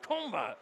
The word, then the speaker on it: Kombat: Um, that was saying it's pronounced combat. No, he told me it was combat.